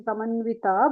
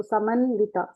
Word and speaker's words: समन्विता: So, Samannita. Okay. we'll say Samanvita, but we can pronounce the va itself. So, Samanvita.